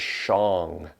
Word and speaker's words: shong: The sound we're going to make is shong. S-H, I'll spell it phonetically, S-H-O-N-G. So it sounds like this. Shong.